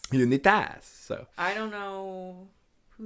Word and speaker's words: Unitas: games, breaking a 50-year streak held by Johnny Unitas, which I think that's how you pronounce it. Correct me if I'm wrong, listeners. I was going to say Unitas. Unitas.